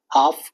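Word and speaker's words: half: हाफ, talk, walk, है ना, हाफ में एल साइलेंट हो रखा, टॉक में एल, वॉक में एल।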